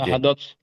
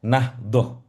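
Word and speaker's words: نهضة: Nahadot. Nah, bagus. Ini di kita di Indonesia lebih populer dibaca nahdoh.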